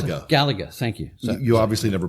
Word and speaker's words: Galaga: Is that how you pronounce Galaga. it? Galaga.